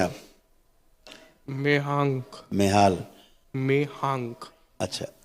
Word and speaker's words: मेहांक: मेहांक। मेहाल। मेहांक। अच्छा, स्पेलिंग बताओ अलग अलग।